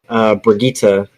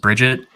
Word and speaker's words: Brigitte: A lot of people dropped off the game though when Brigitte came out because she's kind of like a beast. Oh, And it's not pronounced Bridget. it's not Bridget, it's Brigitte.